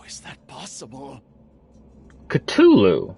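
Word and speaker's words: Cthulhu: how is that possible culu not we we don't pronounce the h okay all right all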